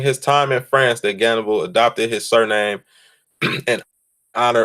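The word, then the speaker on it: Gannibal: within H is because in Russia I guess they use the H as a G so the H dump they don't use the H over there so they say cannibal or however they pronounce it but that's why it's a G instead of an H but he took on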